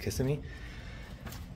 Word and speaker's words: Kissimmee: the comfort in Suites I think it's pronounced kissing me in Florida and I'm